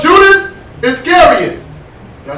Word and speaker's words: Iscariot: Then one of the 12, called Judas Iscariot. Did I say it right? Yeah. Iscariot.